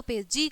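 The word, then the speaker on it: page: हो जाएगा, ज होता है, तथा कुछ स्थानों पे जी का जो उच्चारण है वो क्या होता है, ज होता है, ठीक है।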